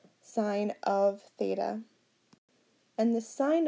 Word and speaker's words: sine: looks like si n but remember it's sine not sin so sine of theta remember it's a function like the square root of 4 sine of theta and the